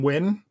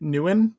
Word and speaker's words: Nguyen: And then Kevin, I had always pronounced Kevin's last name Win, but Evan keeps saying it Nguyen. And somehow I feel like Evan's probably more correct on that one. Yeah, I asked him at Evan's 100th, and that's how he pronounced it.